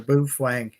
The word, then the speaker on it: Baofeng: Paz McQuarrie, I'm becoming a firm believer of the Baofeng or Bufang. See, it's I think it's actually said Bufang, but it's spelled Baofeng. Someone said it was pronounced Bufang.